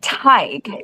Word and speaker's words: Teague: You say Teague and it's one of the very many difficult to pronounce Irish names in the book because when I was